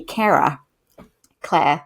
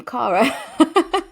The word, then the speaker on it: Cara: They called me Cara Cla. Oh, and obviously um I pronounce my name Cara.